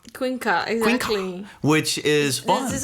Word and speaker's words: Queencard: I mean, it's not Queen Card. It essentially gets pronounced as Queen Ka. Queen Ka.